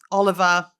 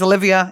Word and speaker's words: Olivia: Stephanov, Noel Buher, Olive Oliver. Olivia, her name's Olivia. It's not Oliver.